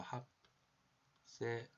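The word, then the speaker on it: 하트셉수트: 지금 보시는 것은 합세스투 여왕의 장제 신전입니다. 발음이 좀 어렵지? 그래서 저는 그냥 이렇게 읽어요. 합세수트 그죠?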